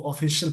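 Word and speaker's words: official: इसको ऑफिशियल पढ़ते हैं, CIL को शल पढ़ते हैं, इसको याद रखेंगे।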